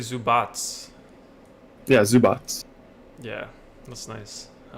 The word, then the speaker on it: Zubac: How come Doris Burke says Zubox? They always say Zubox. Where's the extra S, Chris? Is it? I don't know. Probably the European name, Serbian name. Yeah, Zubats. My bad. Is that how you say it? Zubats? Zubats. Yeah, It's actually Zubats.